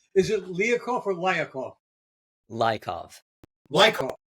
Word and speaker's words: Lyakhov: Lyakhov. It's Lyakhov. Oh, the A is silent.